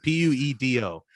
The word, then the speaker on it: puedo: can't hear you taunt so not plato no puedo puedo like p-u-e-d-o puedo puedo no puedo